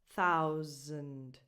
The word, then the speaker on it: thousand: And with this you start with a voiceless TH, like in the word think, and then you make an ow sound, like in the word out, and that S sounds more like a z, thousand, zend.